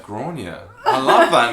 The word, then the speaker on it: Gráinne: It's Gráinne, but it's spelled like Granny.